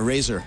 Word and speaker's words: Razer: Euh Alan, pour parler de de la marque, comment on la prononce exactement ? Brander. Razer. Razer.